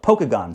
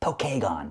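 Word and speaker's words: Pokagon: So, in Punk Rockam Radio World, it's pronounced Pokeagon State Park. It's pronounced Pokeagon, but okay, whatever.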